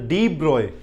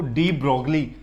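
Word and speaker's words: de Broglie: है, लास्ट के अंदर डी ब्रॉय एक साइंटिस्ट हुए। डी ब्रॉय पढ़ने में लिखा जाता है इसको डी ब्रॉगली, लेकिन एक्चुअल में इसकी एग्जैक्ट प्रोनाउंसिएशन क्या है? डी ब्रॉय।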